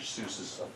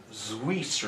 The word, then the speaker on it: Seuss: And by the way, it's not pronounced Seuss. I learned that Really? the other day. It's like Zwies or something like that. The real pronunciation, but that's beside the point.